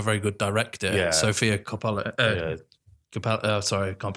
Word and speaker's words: Coppola: Sofia Coppola. Sorry, I can't pronounce her name. Coppola.